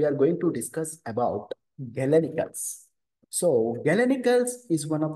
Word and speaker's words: galenical: scientist Galen so that is why these are pronounced as galenical simply Galen is the one who discovered this